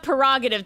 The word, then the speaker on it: prerogative: Prerogative, Yeah, as now I'm going to pronounce we have it. silent R's apparently. Yeah, it's okay. I'm looking up prerogative to make sure I'm not trying to fuck up two things.